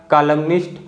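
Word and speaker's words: columnist: अलग वर्ड हो गया कॉलमनिस्ट और कॉलमनिस्ट में हम न को बोल रहे हैं और ऑटम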